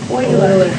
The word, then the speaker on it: Euler: Does it look like it should be spelled with an EU? No? But should Kirkendall be spelled with a Y? No. Not in English. But guess what? It's not English. Shh. Different languages use different letters for different things.